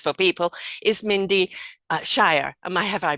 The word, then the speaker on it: Mindy Scheier: some incredible things for people is Mindy uh Shire am I have I pronounced it right now oh excellent good now